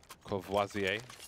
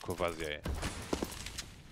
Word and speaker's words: Courvoisier: Courvoisier.